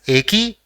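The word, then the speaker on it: えき: So it will be pronounced as Eki, which means railway station.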